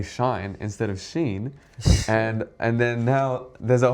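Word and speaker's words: Shein: and then they say shine instead of sheen, and then now there's a whole another generation that says shine instead of sheen, because I wouldn't mind the if, teacher if, didn't know.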